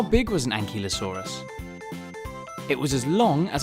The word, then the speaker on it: ankylosaurus: how do you say that again an key low saw russ how big was an ankylosaurus it was as long as a bus and